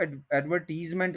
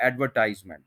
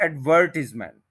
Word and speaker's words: advertisement: देखें to pronunciations हैं, एक तो वही है जो सिंपल है, एडवर्टाइजमेंट, बिल्कुल। दूसरी है एडवर्टिजमेंट, एडवर्टिजमेंट। सेकंड ये है, एडवर्टीजमेंट कोई वर्ड नहीं है।